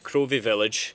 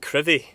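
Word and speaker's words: Crovie: But on a nice clear day, you can park here, walk down to Crov, which is actually pronounced Crevy, not Crov.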